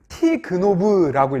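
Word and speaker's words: תגנב: 그러면서 어떻게 읽느냐? 가나브를 티그노브라고 읽어요. 티그노브.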